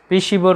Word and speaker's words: Piscivore: पिशिवोर, PISCI, spelling ध्यान रखिएगा, पिशिवोर पढ़ा जाता है PISCIVORE।